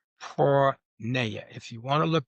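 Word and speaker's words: porneia: The pornography comes from a word in the Bible called porna. If you want to look this up, it's spelled P O R N E I A.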